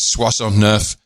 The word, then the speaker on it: soixante-neuf: If that was because I'm sure it was someone who mispronunciation from somewhere, but in French 69 is Soixante-neuf, and somehow that became Swazelnoff.